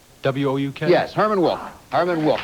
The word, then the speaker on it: Wouk: I may mispronounce it, but Vauk? W-O-U-K?